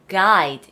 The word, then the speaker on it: guide: 뭔가 약간 스펠링이 약간 G도 같이 나오고 하는데 이거는 자로 읽지 않고 guide 읽어요. guide.